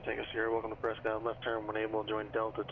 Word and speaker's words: Prescott: Dude, it's Prescott, man. Prescott, because that's how it's spelled.